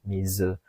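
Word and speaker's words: 水: Ichibang sui, tidak ya, ini kalau ketemu kanji lain baru dibaca sui, tapi kalau berdiri sendiri seperti ini itu dibaca mizu.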